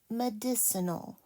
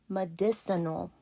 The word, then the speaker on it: medicinal: a n medicinal and it sounds like m this is a soft C madis uh that's awah no that's almost awah medicinal four syllables and this one can